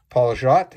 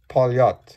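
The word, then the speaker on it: Poljot: a now most of you guys will probably pronounce it as paul jaat it's not okay that's not how it's pronounced it's polyat okay and it's a russian word meaning pilot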